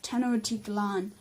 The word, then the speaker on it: Tenochtitlan: of the Empire reading the great population of 1000 T Tanakh TT lon penalty not sorry about the pronunciation of that it's pronounced 10 och cheat LAN LAN okay okay sure feeding the great population of Tenochtitlan and the Aztec Confederation in general in general